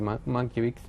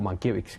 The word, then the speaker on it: Mankiewicz: porque se habla mucho en las películas de Mankiewicz, o Mankiewicz, que diremos, lo pronunciaremos de las dos formas los americanos diferentes.